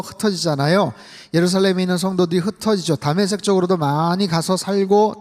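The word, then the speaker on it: 다메섹: 메세지 붙잡으러 가는 거예요 다색이라고 하면 오늘날 시리아의 수도인 다마스커스의 히브리식 발음입니다 스데반이 순교 당하고 나서 흩어지지아요 예루살렘에 있는 성도들이 흩어지 다색 쪽으로도 많이 가서 살고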